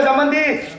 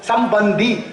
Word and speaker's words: சம்பந்தி: அவரும் சோறு தின்னுட்டு போறாரு சம்மந்தினா உச்சரிப்பு தப்பு சம்முன்னா நல்ல மந்தினா குரங்கு வாங்க நல்ல குரங்குங்கிறான் அவங்க எல்லாம் ஆமா குரங்குன்னு சோறு தின்னுட்டு என்னத்த சொல்றது சம்முன்னா நல்ல பந்தினா உறவு நல்ல பந்தமேன்னு சொல்லணும் சம்பந்தி அப்படின்னு பந்தம்னா உறவு இருக்குல்ல ஞான சம்பந்தர்னு